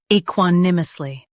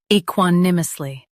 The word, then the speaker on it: equanimously: e quan im us ly equanimously Stress quan and keep ly light. e quan im us ly equanimously Practice repeatedly and you'll soon be able to say this word perfectly.